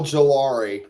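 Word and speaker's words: Ojulari: Oh, Gelari. Yep. There you go. That's even better. Oh, gelari. That's how you say it.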